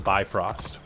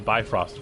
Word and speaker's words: Bifrost: buy for uh the bifrost which as i understand it is pronounced like beef host but i am not